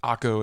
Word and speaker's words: Akko: But Akko is the current name, at least in the Hebrew pronunciation.